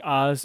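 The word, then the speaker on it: AHS: I remember correctly the Oz is the the hardware enablement kernel yeah we advance Hardware support but we pronounce it like Wizard of Oz so us and um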